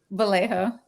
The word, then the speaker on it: Vallejo: And is that, I always mispronounce it. Is it Vallejo? Vallejo.